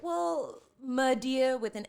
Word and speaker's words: Nadiyah: For people who don't know, it's phonetically spelled. It's Nadiyah. I don't know why people don't. It sounds like my sister's name is Naya and Nada. So when you told me Nadiyah, I'm like, I can remember that.